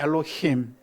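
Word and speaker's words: Elohim: 엘로힘. 힘 할 때 약간 목이 약간 떨려요. 엘로힘.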